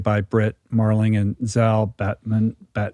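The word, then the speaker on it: Batmanglij: Which was created by Britt Marling and Zal Batmonglij. I don't know how you say his last name. Batmonglij, I think is how you say it.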